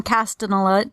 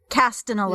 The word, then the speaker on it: Castellaneta: And he's voiced by Dan Castellaneta. How do you pronounce that? Dan Castellaneta.